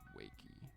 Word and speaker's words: Waqie: All I know is that it's the English pronunciation, like written in English, the name Waqie, W-A-Q-I-E. It's said in English, whatever, but I got it from Arabic language.